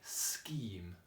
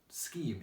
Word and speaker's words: scheme: you might think scheme there's lots of different ways to spell scheme in your head so it sounds like it could be e okay there's a lot of different ways that phonetically it will be correct but these words all have this spelling so you know that the sound in the middle is spelt with a CH so if I think